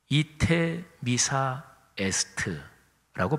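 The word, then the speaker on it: Ite missa est: 바로 끝났으니까 이제들 가시오 하는 걸 라틴어 표현이 이테 미사 에스트라고 발음합니다.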